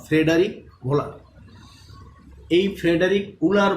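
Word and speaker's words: Wöhler: তো জার্মান ভাষায় এই ডাব্লিউটা কি ভ উচ্চারণ হয়, এই কারণে জার্মান ভাষায় উলার না বলে ভোলার বলা হয়।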